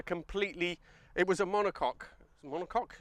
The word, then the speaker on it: monocoque: it was a monocoque monocoque is how you say it the monocoque chassis so